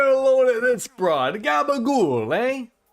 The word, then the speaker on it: gabagool: Gabagool, eh? Right? Just gotta say it like Tony Soprano.